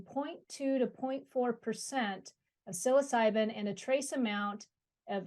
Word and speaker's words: psilocybin: me because I googled this even and hit pronounce psilocybin am I pronouncing that correctly that's correct yes